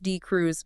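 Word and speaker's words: D'Cruz: And this whole paradigm shift is driven by one trial, one landmark randomized trial, the DCR, pronounced D Cruz trial.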